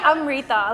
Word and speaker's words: Amritha: the mean was like if you can learn to say Daenerys you can say I'm Rita like it's like phonetic it's not that hard